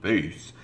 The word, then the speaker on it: bass: The bass clef, pronounced bass, is used for notes in the lower pitch ranges.